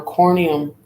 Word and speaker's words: corneum: Corn on corneum rhymes with horn, providing an easy way to remember the technical term in alternate terminology.